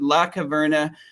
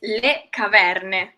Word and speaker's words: le caverne: I said La Caverne. Give us the actual authentic Italian word for it. That's actually pretty good. It's le caverne.